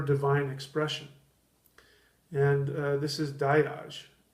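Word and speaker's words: Dagaz: So Die-Yahz is the word for day. The G sound is oftentimes not pronounced, but in German it's Tag, Guten Tag, good day.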